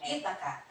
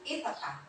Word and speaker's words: Ithaca: That's Ithaca. The stress is on the first syllable. Ithaca. Follow after me. Ithaca. Ithaca.